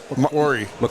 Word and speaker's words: Macquarie: Mquari. McQuary.